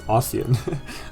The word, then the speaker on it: Ostian: No, it's Ostian. Ostia is like what Hector has.